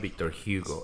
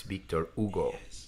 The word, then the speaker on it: Victor Hugo: the center it's not Victor Hugo it's Victor Ugo it's the correct pronunciation I was doing the English pronunciation Victor Hugo bad scooting